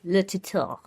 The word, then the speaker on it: Le Tuteur: I minored in French, so I'm trying to get that R in there. Great pronunciation. Thank you. Le Tuteur.